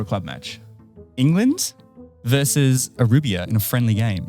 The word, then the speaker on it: Aruba: England versus Aruba in a friendly game. Arubia? Yeah. Are you pronouncing that right? Aruba.